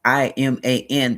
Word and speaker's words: Iman: The I has a E sound like Iman Shambert is he I M A N but it is pronounced Iman.